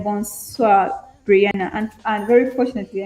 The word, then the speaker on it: bonsoir: It's bonsoir, yes.